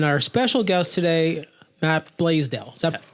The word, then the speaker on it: Blaisdell: Larry Maris and our special guest today Matt blasdell 7:00 pronounced correctly that's correct yeah all right we